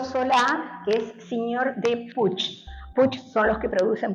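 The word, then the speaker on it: Puig: eh y del por el Prado y Gregorio Solá que es señor de Puch. Puch son los que producen Paco Rabán y se se escribe pu pero se dice puch.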